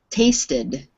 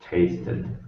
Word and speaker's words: tasted: You have to turn it into 2 syllables. There's no other way to do it. Tasted. Tasted. Mm-hmm. So that means it's the ID ending or ED sound on the end.